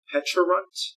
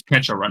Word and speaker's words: Pecharunt: Pecharunt? I'm close, No, I'm sure. I think because it's Pecha Berry. Okay. So it's Pecharunt. I'm almost positive. All right, Pecharunt.